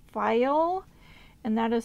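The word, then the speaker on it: Pfeil: So anyway, the tools that I am getting, they are from a company called File, and that is spelled P-F-E-I-L, I'm pretty sure.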